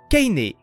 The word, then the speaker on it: Kainé: figurez-vous qu'en grec ancien le nom de Cé se prononce Kainé ou kainéus je trouvais la référence